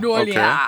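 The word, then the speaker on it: Nuolja: J's in Sweden are Y sounds, so you know, Nolia. Nolia.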